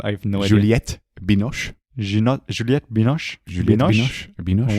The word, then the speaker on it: Juliette Binoche: And there she plays the personal assistant of Julianne Binoche's character. Is that how you pronounce her name? I have no idea. Juliette Binoche.